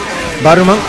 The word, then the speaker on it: Barumonk: Barumonk. That's the proper pronunciation.